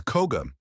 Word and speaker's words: Koga: His name is Crow. Phonetically, it's Koga, only in his native language, and we should respect his language and culture and refer to him in the way of his people, as Koga, Daiju